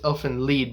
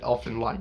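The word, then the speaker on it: Elfen Lied: lied and elfin lead i know it's elfin leed because it's supposed to be german but i'm not going to nut on somebody who pronounces it elf in line you know who gives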